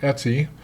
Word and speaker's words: etc: folder is super important it's called Etsy it stands for ETC means and so forth and Etsy contains systemwide configuration files